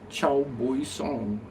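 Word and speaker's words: chào buổi sáng: Oh, it's Chow Boy Song. Chow Boy Song? That means hello, good morning.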